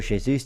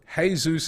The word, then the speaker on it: Jesus: And also, Jesus is not Spanish. So the J is a H.